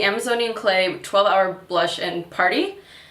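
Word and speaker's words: Paaarty: This is the Amazonian Clay 12-Hour Blush in Party. Actually, it's spelled P-A-A-A-R-T-Y, so party.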